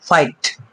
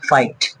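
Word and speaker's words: fight: আছে একসঙ্গে আছে তাহলে কিন্তু জিএস টা এখানে সাইলেন্ট আছে লাইট নেক্সট বন্ধুরা ফাইট এফ আই জি এস টি আবার দেখতে পাচ্ছেন জিএস টা কি আছে এখানে সাইলেন্ট আছে ফাইট আচ্ছা হাই স্কুল হাই আমরা পড়ি না হাই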